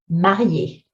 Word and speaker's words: marié: Because when you put it on the E, it does change how you sound that word. So attention, prononciation, mari, marié.